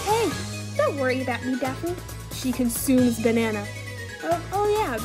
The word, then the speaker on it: Daphne: I go by Daphne. Daphne, and that's 2 syllables, VT dubs.